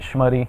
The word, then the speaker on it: Schmutte: name is uh in the United States I pronounce it schmy when I come to when I come to Europe I just say because it makes it